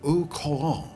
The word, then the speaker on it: au courant: just dated so brilliantly and still look so au courant. Is that how we pronounce this?